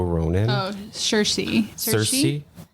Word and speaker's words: Saoirse: Claire Littleton, and I don't know how to pronounce her name. Swarso Ronan. Oh, Cersei. Cersei. Shersha? Saoirse Ronan.